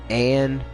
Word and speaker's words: Ann: So like for instance, the girl that was in the red cat suit, Anne is how it's pronounced.